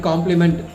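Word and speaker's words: compliment: difference between complement and complement. Both the words are pronounced as the same, but if you look at the spelling, there is just a letter is changed. One complement is COMPLEMENT.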